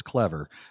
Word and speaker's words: Clever: I've made the mistake it's not Cleaver it's clever that's the way that